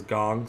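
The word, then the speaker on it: Kang: believe it's called now I saw it pronounced as gong so he's absolutely locked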